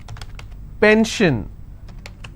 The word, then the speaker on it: pension: SION, tension, pension. So how many syllables in tension? 2. Tension, I will stress on 10. If I have pension, I will stress on pen.